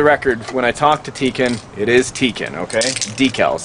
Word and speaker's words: Tekken: And for the record, when I talk to Tekken, it is Tekken, okay?